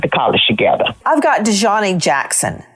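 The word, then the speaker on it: Daejhanae: Her name is Dejanay. Yeah, that's Dejanay. It's Dejanay because it's got A-E on the end.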